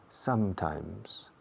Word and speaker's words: sometimes: Dos M's. Y en las dos M's se cierra la boca. Sometimes.